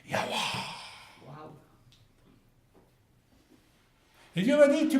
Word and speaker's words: Yahweh: Et j'ai entendu passer devant moi, un son qui faisait quelque chose comme Yahweh.